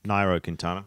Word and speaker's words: Nairo Quintana: Britain, second TJ Van Garderen, and in third, Nairo Quintana. Quintana. I keep getting that wrong. Nairo Quintana.